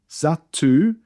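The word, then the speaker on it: Zattu: The heads of the people were paratham zatu bani. Again with zatu double t. I'm trying to emphasize the t.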